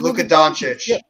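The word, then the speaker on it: Luka Dončić: Don how do you say his name that's Luka doncic yeah he's the dude's unbelievable he's probably one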